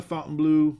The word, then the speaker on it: Fontainebleau: Vegas uh in the fountain blue however are we pronounce that place too Fountain Fountain it's not Fountain it's Fountain Blue um that's it thanks